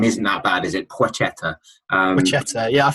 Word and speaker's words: Placheta: Placheta. Placheta. Yeah, I think the L essentially becomes a W, doesn't it?